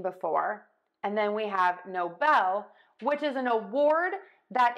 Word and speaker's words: Nobel: and not seen before and then we have no Bell which is an award that is conferred for great benefit to human kind so in the U.S there was a person who mispronounced the name Nobel as Noble can totally see how that would happen especially